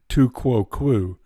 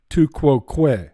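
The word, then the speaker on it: tu quoque: This fallacy not only doesn't apply, as I'll explain a bit later, but it's not pronounced tu quo quo. It's pronounced tu quo que.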